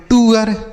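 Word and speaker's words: tour: उसके बाद T double O आर इसे हम पढ़ेंगे टूअर। क्या पढ़ेंगे? टूअर। इसे ना तो टूर पढ़ेंगे ना तो टूर पढ़ेंगे ना तो टूर पढ़ेंगे।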